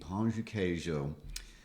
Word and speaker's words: pão de queijo: or whatever, in our chairs, and we eat pão de queijo.